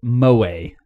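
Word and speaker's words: moe: entertainment centered around characters who possess such traits pronounced mo way how many notes are there anyways oh wait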